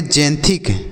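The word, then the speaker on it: xanthic: जैंथस देख रहे हैं एक्स का उच्चारण जो हो रहा है वह ज के रूप में हो रहा है ठीक है बच्चों तो ये क्या पढ़ेंगे एक्स ए एन टी एच आई के तो इसे हम पढ़ेंगे जैंथिक जैंथिक मतलब क्या होगा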